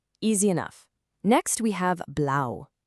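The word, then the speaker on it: blau: Next we have blow. It's just like saying blouse but without the s sound at the end.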